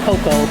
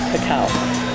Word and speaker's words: cacao: Um, it was mispronounced as cocoa, but it's actually cacao.